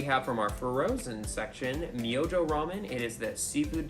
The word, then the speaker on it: Myojo: tonkatsu seafood pork flavor so for the longest time i thought it was called myoho i'm glad michael looked up the right way of saying it i looked it up